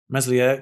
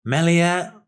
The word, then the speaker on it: Meslier: there neymar free kick meslier good save i'll pronounce his name probably four different ways in this one match melia is what i hear is the right pronunciation i probably won't remember